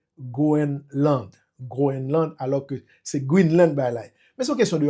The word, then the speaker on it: Greenland: qui écrime qui dit que pour qui ça prononcer Goenland Groen alors que c'est Greenland by mais c'est question de anglais avec français